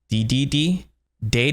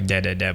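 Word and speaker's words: Dedede: de de day so in the west we pronounce it DDD and in Japan it's actually de de de but I'll be saying DDD I'll stick to the American version so let's move on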